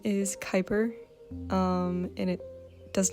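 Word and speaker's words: Kuiper: I was younger, but anyway, his name is Kyper.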